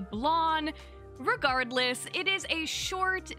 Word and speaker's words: Blanc: I've been calling it Blanc, but many comments have let me know it's actually Blon.